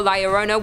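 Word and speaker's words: La Llorona: Hailing from Hispanic folklore, Laurona, which I'm pronouncing correctly now after you guys yelled at me in a previous video, is also known as the whailing woman or even the crier.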